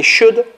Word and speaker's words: should: example when I say should which letter is not pronounced l sound is silent right it is not pronounced so maybe you can